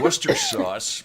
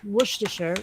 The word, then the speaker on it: Worcestershire: Now, Yeah, I know there are some who say Worcester sauce, but Well, I mean, the name is Worcestershire. Worcestershire. That is hard to pronounce, but Worcestershire sauce. no, actually, you don't really pronounce the R so much.